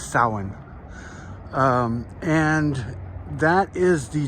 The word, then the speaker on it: Samhain: some people pronounce it samhain but the celtic pronunciation is sahan um and that is